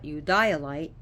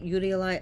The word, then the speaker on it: eudialyte: you work with it utilite this is also pronounced Julia you dialite so people pronounce it utilize others pronounce it you dialite that's fine so you dilate is good